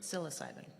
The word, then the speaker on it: psilocybin: How you pronounce that? Psilocybin.